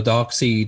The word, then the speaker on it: Darkseid: near the end when darkseid or dark sea depending on how you say it gets older all